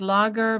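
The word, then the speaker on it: Lager: y uh you say leer I would pronounce it as logger but that's my Dutch way and it is spelled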